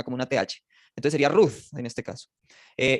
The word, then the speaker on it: Ruth: Root.